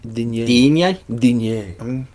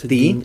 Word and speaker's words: Digne: So when you hear people call him Digny, I mean, at the very, very least, it's Digne. Digne. You want to say it like that? It's Dean. I know it's Dean, but if you're going